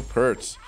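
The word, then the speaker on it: Peart: about rush and neil pertz um at least that's how i say his name i know technically you're supposed to say it like pierce or whatever anyway oh man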